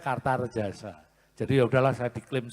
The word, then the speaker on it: Kartaredjasa: Karena so tulisannya A, bacanya Kartarejasa.